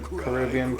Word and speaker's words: Caribbean: Caribbean, not Caribbean. Well, I know that the movies we pronounce them Caribbean, but like You have to speak the islands are called the Caribbean Islands.